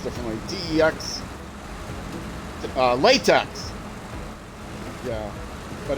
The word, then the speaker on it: TeX: uh tech text actually it's supposed to be pronounced differently teex uh latex yeah but it's supposed to be